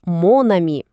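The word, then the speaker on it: mon ami: Якщо слово жіночого роду, наприклад, амі, подруга, починається на голосну, то замість ма ми кажемо мон. Виходить монамі. Навіщо? Просто, щоб дві голосні не стояли поруч. Сказати ма а мі незручно, а мона мі звучить красиво і плавно.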